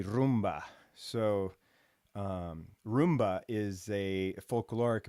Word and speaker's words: rumba: Americans say rumba, but it's technically rumba.